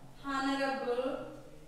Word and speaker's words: honorable: Honorable. Person. Here, what is that, ma'am? Here the H is silent.